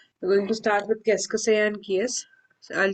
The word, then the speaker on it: qu'est-ce que c'est: This is qu'est-ce que c'est. We'll pronounce it as qu'est-ce que c'est. This is one word.